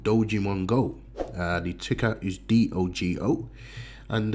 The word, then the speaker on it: Dogemon-Go: So what is Dogemon-Go? Now you might think it sounds familiar, okay, because it does. It rhymes with Pokemon Go, okay guys.